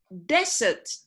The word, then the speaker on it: desert: So, desert now. นะ ทะเลทราย นะ ถ้าเป็น verb, แปลว่าละทิ้ง ออกเสียง desert.